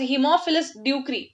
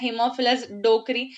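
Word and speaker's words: Haemophilus ducreyi: One bacteria called as हीमोफिलस ड्यूक्री, ठीक है, जिसको काफी लोग प्रोनाउंस करते हैं हीमोफिलस डोकरी, बट इट इज नॉट the correct pronunciation, it इज हीमोफिलस ड्यूक्री, ठीक है.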